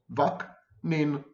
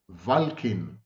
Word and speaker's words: Vaknin: Now, isn't this a simple family name? It's like two syllables, Vaknin, Vaknin, a little like the tintinnabulation of a demented bell. But well over, hold your breath, well over 98% of you can't get my name right. Valkin, Vankin, Vadkin.